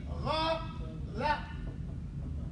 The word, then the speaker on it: غلط: Now the T sound is actually a tha. So don't say it like T, like ghalat, but say ghalat. I only put the two T's there because the tha is the strongest letter in the Arabic alphabet.